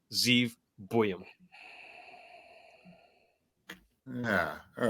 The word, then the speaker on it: Buium: I got Z buam I figured out how to pronounce it finally after after a year of trying it's boam uh 6 foot 185